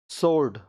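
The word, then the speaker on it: sword: W silent, wrong गलत, wrong गलत। Answer उत्तर, answer उत्तर। सोर्ड तलवार, सोर्ड तलवार।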